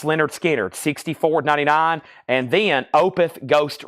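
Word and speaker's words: Lynyrd Skynyrd: of high quality records analog Productions 45 RPM pronounced Leonard skard 64.99 and then opth ghost revies ghost revies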